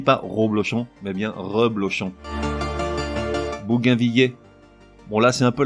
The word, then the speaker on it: bougainvillier: Toujours est-il qu'au niveau prononciation, dans les deux cas, l'un logique, l'autre beaucoup moins, le double L se prononce comme dans ville ou mille. On dit donc bougainvillé et bougainvillier.